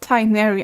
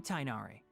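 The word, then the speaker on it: Tighnari: He's not Tinary. I don't even see his tide. Okay, the way they pronounce his name is bad. So Kale's exaggerating. I'm Tainari.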